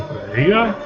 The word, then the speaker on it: birria: out if it was birria or birria. The accent is on the beer.